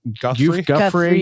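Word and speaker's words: Giuffre: You know, he was photographed with Virginia uh how do you say her last name? Guffrey. Yeah. And then later gave a now infamous BBC interview.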